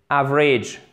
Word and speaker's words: average: Donc, A, c'est un A court. Average. Et ici, le A, le deuxième A, il est prononcé comme un I bref que je vous ai mis en phonétique ici.